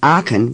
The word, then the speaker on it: Aachen: often first say it as if the CH were a K I can notice that when you produce the K the back of your tongue goes up for a moment do it again say aachen now try to hold your tongue down as you do when